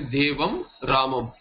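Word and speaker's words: देवं रामम्: The anuswara pronunciation will be like a makara, and you will say devam.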